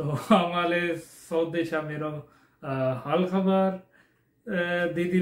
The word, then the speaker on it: हाल खबर: VTEN का था हाल खबर, मैंने पढ़ दिया हल्का बार. मुझे लगा शायद हल्का बार लिखा हुआ है, वही मैं पढ़ गया हूँ. आई एम सो सॉरी, मैंने प्रनाउंस जो है ना सॉन्ग के जो टाइटल है उसको सही नहीं किया. हाल खबर वो मैंने सुना है तो फिर मुझे समझ आई है हाल खबर बोलते हैं कि आप कैसे हैं.